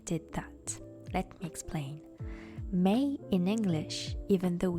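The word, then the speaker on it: Mei: that let me explain May in English even though it's written m eii is pronounced like the fifth month of the year however in all Japanese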